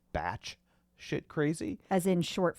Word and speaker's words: Bach: It looks like it says Bach Shit Crazy, B-A-C-H, but I think it's probably actually pronounced Batch Shit Crazy.